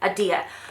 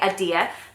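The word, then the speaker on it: Ahdieh: correct ways say her surname is uh Dia Adia so Renee adir this is about let's just read the blurb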